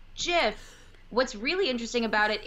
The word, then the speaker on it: GIF: they always called it jiff then and that was before people were using them generally as ways of communication okay and because the creator had said that it was jiff what's really interesting about